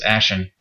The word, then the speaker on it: Ashen: I always pronounced it with a T for some reason, but it's Ashen, A-S-H-E-N, Rift.